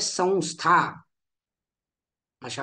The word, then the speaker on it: संस्था: करतो नित्य ठीक आहे त्याचप्रमाणे संस्था इथे सुद्धा जोड अक्षर काय आहे तर स्था हे जोड अक्षर आहे बरोबर त्यापैकी पहिलं अक्षर काय आहे तर स हे पहिलं अक्षर आहे त्यामुळे संस्था अशा पद्धतीने उच्चारण करतो समस्या आपण समस्या असं